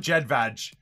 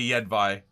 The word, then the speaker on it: Jedvaj: for jedvai yet vi is it yet vi or jedvaj it's definitely not jedvaj that's the most canadian pronunciation oh god it's not jet vag dude it's got to be yet by jedvag really no no